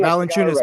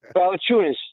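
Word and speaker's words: Valančiūnas: Jesse told me how to pronounce it. Valanciunas, Mitch. Valanciunas.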